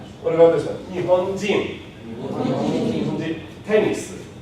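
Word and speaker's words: テニス: In this case, I hit the accent on the very first one. So I don't have a low and then it goes up. It just is high and falls right from the very beginning.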